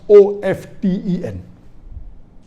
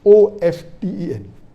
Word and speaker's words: often: new people are saying of 10 is correct t is not silent it should be pronounced some said t sign